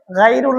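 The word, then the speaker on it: غير: এখানে গায়রুল বলে অথবা গয়রুল বলে, অনেকজন অনেকটা। গায়রিল, গটা আমরা সেভাবে উচ্চারণ করব।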